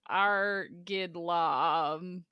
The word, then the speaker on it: Argetlam: The Irish word, spelled the exact same way, Oh. is pronounced Argidlam.